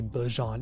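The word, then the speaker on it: Bijan: Did you see that Bejon said that everyone's been pronouncing his name wrong and it's actually Bjon?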